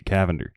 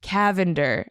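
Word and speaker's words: Cavendar: It's It's Lavender with a C. Cavender. Cavender.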